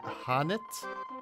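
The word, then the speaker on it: H'aanit: Single story cast for Hanit. HAANIT. Yep. Did I say that mm-hmm right? Mm-hmm. Okay. Hanit.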